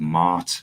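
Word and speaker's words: Maat: They're called Mart, and it's spelled like M, then 2 A's and a T.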